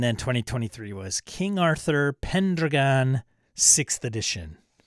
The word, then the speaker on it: Pendragon: 2023 was King Arthur Pendragon sixth edition why is he pronouncing it like that it's driving me nuts it's pen Dragon you ass yeah you're